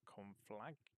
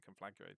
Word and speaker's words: Conflator: Conflator. Confl. I was saying complactor, but that's blatantly not how you say it.